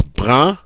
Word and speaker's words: brun: So in this case, the masculine singular is brun.